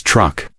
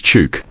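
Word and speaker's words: Chuuk: The place long called truck came about when German visitors in the 1800s struggled with the native name and began pronouncing it as truck. In recent years, there has been a move to restore traditional names. So today, it is also known as Chuke.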